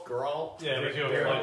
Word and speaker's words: Geralt: you pronounce his first name? Geralt.